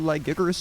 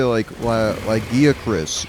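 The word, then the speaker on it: Lagiacrus: Monster Hunter Wilds put Lagiacuras into the game. How do you want to pronounce it? I know in the game they say Lagiacuras, which sounds absolutely lame.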